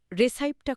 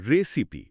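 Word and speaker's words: recipe: রান্নার অনুষ্ঠানে বা ব্লগে প্রায় দেখি বা শুনি এর রেসাইপটা খুব সহজ। হ্যাঁ, এটা একটা ক্লাসিক ভুল। এর আসল উচ্চারণ রিসাইপ নয়, বরং রেসিপি। রেসিপি শেষে ই থাকা সত্ত্বেও এটা আই সাউন্ড তৈরি করে না।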